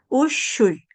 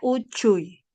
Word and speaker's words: uchuy: En quechua no hay este sonido, sino este sonido. ¿Por qué le digo? Cuando empezamos a leer, muchos van a leer así. Ya. Uuy. Diferente a Uchuy. Uchuy. Ahora sí. Uchuy. ¿Dónde debo articular? Allí tu lengua debe articular en el paladar. En el paladar. Sí. Usted en el paladar ponga su lengua, toque el dorso de su lengua al paladar y le sale perfecto este sonido.